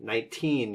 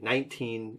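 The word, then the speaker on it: nineteen: The word 19 should have equal emphasis on both syllables. Okay, 19. She was 19 years old. I think you emphasized the second one, 19 years old.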